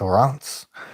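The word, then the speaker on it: Reims: Believe It or Not re Ms pronounced Rance um car museum yeah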